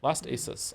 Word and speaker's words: ASUS: Last ASUS. I will try my best to remember ASUS. Okay. Like the motherboard.